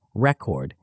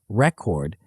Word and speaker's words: record: For example, the word record changes meaning based on syllable stress. When the stress is on the first syllable, record, it's a noun referring to documentation or achievement. When the stress is on the second syllable, record, it's a verb meaning to document or register.